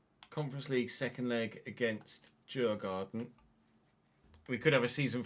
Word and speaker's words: Djurgården: So we've got Djurgården, I guess, to pronounce it the Swedish way.